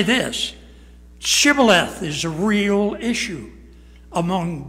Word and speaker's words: shibboleth: that to say this shibboleth is a real issue among believers it may not be the word chivalreth but there are people that can't say it they say sybileth and it cost 142